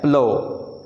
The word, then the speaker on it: plough: ये लफ्ज़ है प्लो। प्लव, इसको प्लफ नहीं पढ़ना। Most of the people miss pronounce this word as प्लफ।